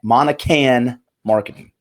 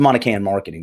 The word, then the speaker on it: Monican Marketing: and now she does it's called Monahan marketing and I'm gonna let her pronounce it right because I know - I totally screwed up it's a monic and marketing is what it is arts I'm gonna bring